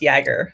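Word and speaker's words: Jaeger: your open Telemetry slide it is pronounced yagger so it's a y sound not a j sound so you were closed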